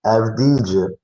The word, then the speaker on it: Avdija: Avdija, he had a number of free throw attempts the first game.